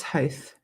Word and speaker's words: Hoth: Tristan is misspelt, also often mispronounced. Whoops. Yes, I know it's Hoth.